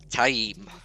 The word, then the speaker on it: Taim: And I hate that I have to say it like this as well, because I just called him Tame in my head forever. But I've conditioned myself now to say it correctly.